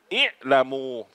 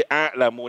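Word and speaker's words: علم: มี ใส่ อ่า อ อ่าน ว่า อิ ฮัมซะ อยู่ ข้าง ล่าง นะ อิลมู ไม่ ใช่ อะลู นะ เอ ลมู แต่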